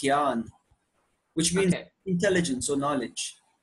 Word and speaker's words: Jnana: It's usually spelled with the J-N, but it's pronounced Gyan, which means intelligence or knowledge, right?